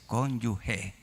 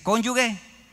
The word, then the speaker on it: cónyuge: ¿Cómo es? cónyugue o cónyuge. Es cónyuge. Y el que dice cónyugue, mátalo.